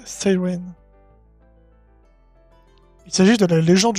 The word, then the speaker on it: Psyren: nom sirène mais oui ça se lit psyè se prononce à l'anglaise Siren il s'agit de la